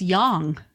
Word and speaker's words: yang: and yang Yong I never say it right I always say it's your name no it's Yong is actually how you say it yes it's always in